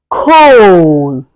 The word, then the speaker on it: cone: As you can see from here, we have cone. You can hear the sound of o and a goes silent.